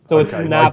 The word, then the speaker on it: Navan: But you're elongating the second A rather than the first A. So I would pronounce it Navan. But you're going Navan, yeah.